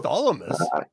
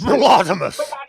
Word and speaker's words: Blothomus: I look over to Bartholomew's and I I go Bartholomew's? Oh sorry sorry sorry. My brain How do you pronounce his name? It's it's Blothomus.